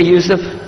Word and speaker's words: Yusuf: Can you say Yusuf? You say Yusuf. Yeah, very good. I wish you'd teach my wife. She keeps mispronouncing it. She calls me useless.